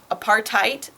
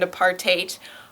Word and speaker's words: apartheid: English both aparte and apartate are accepted pronunciations I think I think most Americans say something like a partite kind of ignoring the H and I think most British people say something like apartate or part hate I'm